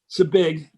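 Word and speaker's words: Zbig: Zabig, so I pronounced it right.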